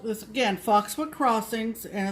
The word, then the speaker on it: Foxwood Crossings: It's Foxwood Crossings, plural.